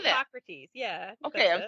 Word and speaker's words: Hippocrates: Hippocrates, yeah.